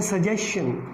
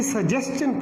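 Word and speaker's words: suggestion: हम इसे बोलते हैं सजेशन, and that is wrong. इसे सजेशन नहीं पढ़ा जाता, इसे सजेस्टन पढ़ा जाता है।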